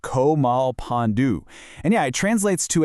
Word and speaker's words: Komalpanu: It's pronounced Komalpanu.